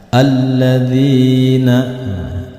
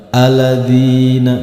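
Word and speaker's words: الَّذِينَ: huruf lam yang bertasjid sedikit di sentak alladzina bukan Aladin bukan tetapi alladzina itulah bedanya yang ada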